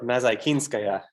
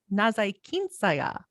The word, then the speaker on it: Nazaykinskaya: Would you pronounce her last name for me? Sure, Nazaykinskaya. Polina Nazaykinskaya.